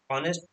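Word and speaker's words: honest: ऑनेस्ट ऑनेस्ट आप देखो अच्छे से अगर उच्चारण करते हो तो एच उसे नहीं पढ़ते। हम लोग यहां से पढ़ते हैं ऑनेस्ट तो यहां पर एच जो है वो साइलेंट रहता है इसलिए इसके आगे लगा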